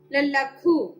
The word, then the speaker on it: ലഘു: ലഘു, ലഘു, ലായുടെ ഉച്ചാരണം അവിടെ പൂർണ്ണമായിട്ട് ലായുടെ ആ അക്ഷരത്തിന്റെ ഉച്ചാരണം വരണം. ലഘു, ലഘു എന്നാണ് പറയേണ്ടത്. മലയാളത്തില് ലഘു എന്ന് പറയുന്നു, സംസ്കൃതത്തിൽ ലഘു എന്ന് തന്നെ പറയുന്നു.